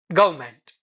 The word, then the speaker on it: government: Take the word government. Careful pronunciation might sound like gment but natural fluent pronunciation becomes closer to government. Okay, it's government. E R N are completely missing.